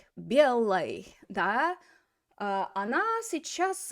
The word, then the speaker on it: белой: Now the ending is not stressed, so how do we pronounce that oi? Белой. Белой.